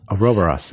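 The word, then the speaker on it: Ouroboros: the next one I'm sure I'm going to mispronounce so can you hit it for me okay so that's aobos aobos okay yeah yeah so um aobos for those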